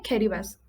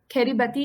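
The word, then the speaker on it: Kiribati: इसको प्रोनाउंस ऐसे ही करते हैं, खेरीबास। खेरीबती नहीं होगा, खेरीबास है ये, ओके?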